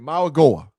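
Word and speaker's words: Mauigoa: Maui Goa. How you pronounce his name? Maagoa.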